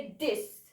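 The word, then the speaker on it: dix: Now 10 को आप लिखेंगे डिक्स. बोलेंगे डिस.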